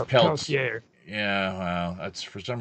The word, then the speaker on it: Peltier: I pronounce it Peltier, but apparently it's Peltier.